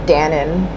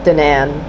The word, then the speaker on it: Danan: Danan, I think Danan is how you pronounce it, not Danon, like the yogurt, but Danan.